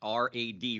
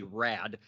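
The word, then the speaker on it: Raad: year Ali Rod uh his last name is spelled r-a-a-d and I ask him how he pronounced that and think of it as as Rad Rad is how he pronounces his name uh he's currently a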